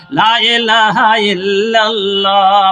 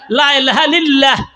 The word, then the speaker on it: লা ইলাহা ইল্লাল্লাহ: আশরা মেরে দিল কা লা ইলাহা ইল্লাল্লাহ বলুন লা ইলাহা ইল্লাল্লাহ উচ্চারণ হতে হবে অনেক মানুষ লা ইলাহা ইল্লাল্লাহ বলে না লা ইলাহা ইল্লাল্লাহ লা ইলাহা লিল্লাহ কত ভুল উচ্চারণ ঠিক হতে হবে তার